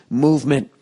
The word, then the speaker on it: MVMT: two more to go oh mvmt movement watches pronounced movement was founded on the